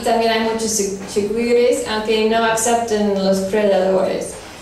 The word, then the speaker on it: chigüire: I want to say chigüire, but it's... Yeah, chigüire.